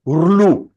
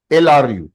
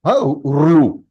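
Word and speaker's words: ऌ: So the phonetics of it is Rlu. LRU. Rlu. That is how it is pronounced.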